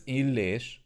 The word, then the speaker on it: Illés: Maybe you won't remember my family name, that is pronounced as Illés, but it looks strange, right? At least for English speakers, it starts with an I and it's followed by 2 L characters.